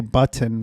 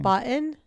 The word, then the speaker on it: button: Button. How do you say it? Not like that. Button. Button. Button. There's a T. There's two T's. Well, you're saying you're not even saying one.